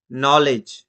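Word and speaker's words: knowledge: যেরকমটা নলেজ, কে এই জায়গাতে সাইলেন্ট রইল আর এন দিয়ে উচ্চারণটা আসলো।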